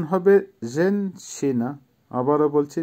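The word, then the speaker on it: женщина: জেনসিনা, জেনসিনার অর্থ হবে মহিলা বা ওমেন, উচ্চারণ হবে জেনসিনা। আবারও বলছি জেনসিনা, জেনসিনা।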